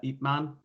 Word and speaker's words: Ip Man: Man, IP Man. Oh, IP Ip, Man. Yes. it's Okay. Yes, yes, yeah, yes. I pronounced understand.